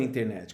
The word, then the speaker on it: internet: Você pode falar internet ou internet sem a letra T.